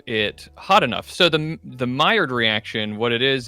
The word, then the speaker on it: Maillard: Oh, it's Maillard. Okay. Yeah. So forget everything we said about male lard. I'm not sure Maillard is any better, but it's fine.